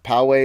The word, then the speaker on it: Pōwehi: name oh wow yeah Poway is the name a black hole has a name not not the area in San Diego no not the pot not that it's spelled powa eh I it's the Hawaiian phrase